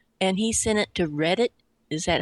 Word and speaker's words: Reddit: watched the video and he sent it to Reddit is that how you pronounce it yep Reddit uh and it was on their front page